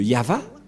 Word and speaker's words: Yahvah: le nom de de yava et la prononciation de y h V selon les Hébreux c'est yava et personne ne peut